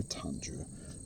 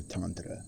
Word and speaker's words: Tantra: the word Tantra as soon as we hear Tandra or Tantra as it's correctly pronounced we get this image of sexuality or